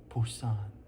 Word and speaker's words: Busan: The other major change to note is the spelling of Busan, which alternates between P-U-S-A-N and B-U-S-A-N. Nowadays, the B is more popular, but P is on this map.